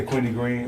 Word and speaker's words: Queenie Greene: Queenie Greene. Yeah, Queenie Greene.